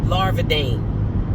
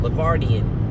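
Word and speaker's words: Larvadain: also coached up Gage Larvadane. Sometimes I say his name wrong. Lardian. It's Larvadane.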